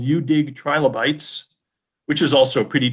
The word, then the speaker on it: UDig: And it's called UDig. That's spelled. Oh, hold on. That's spelled the letter U dash dig fossils.